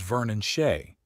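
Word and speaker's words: Ver'Nonshay: And the proper pronunciation is Vernon Shea.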